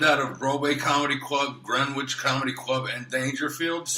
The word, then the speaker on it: Greenwich: Yeah, because it's Greenwich, not Greenwich. No, I can never say that fucking word right. There's no Well, W you there.